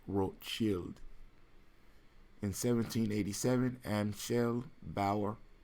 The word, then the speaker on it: Rothschild: red shield in German the name is Belle Rothschild and his pronounced world chilled in 1787 and she'll